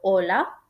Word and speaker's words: hola: La H en español no se pronuncia, es un sonido silencioso. Y hay palabras que se escriben con H, por ejemplo, hola, del saludo, y hola, de la ola del mar.